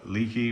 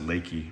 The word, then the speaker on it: Leakey: head down to uh leaky which is here or Leakey I'm I'm sorry I always get corrected I think they pronounce it Lakey around that part and